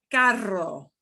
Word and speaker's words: carro: some trouble okay but this is the one that gets the strong rev it up trill or rolling your r as we call it so let's look at this word carro i want you to